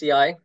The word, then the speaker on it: ISEAI: Yeah, it's ISEAI.